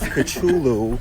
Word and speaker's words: Cthulhu: I pronounce his name as Cthulhu because unlike you, I read the scrolls.